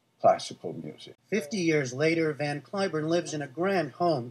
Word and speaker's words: Van Cliburn: So all the time I was there, I never told them that in this country we pronounce it Van Cliburn. So I have two names, Van Cliburn and Van Cliburn.